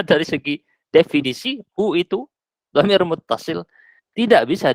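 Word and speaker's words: ضمير متصل: Ini bacanya dhamir muttasil.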